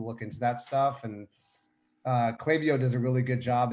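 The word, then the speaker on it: Klaviyo: so cla clavio right it's pronounced clavio unless i'm wrong dante that's right right yeah that's right clavio so basically if say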